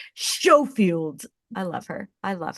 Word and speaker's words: Schofield: Hi, and I'm so glad that you pronounced it correctly. Schofield.